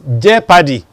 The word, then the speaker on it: jeopardy: fed, you have tet, and that word is jeopardy. Jeopardy. On television, radio, you hear people saying jeopardy. It's not jeopardize your child. It's not right. It is jeopardy. Just like having leopard.